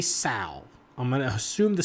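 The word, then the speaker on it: Tsao: So Robert, I'm going to say Sal. I'm going to assume the C is, the T is silent. T-S-A-O.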